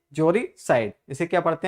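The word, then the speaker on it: uxoricide: इसमें you silent रहता है, इसे ऑक्सियोरिसाइड नहीं, क्या पढ़ते हैं? जोरिसाइड।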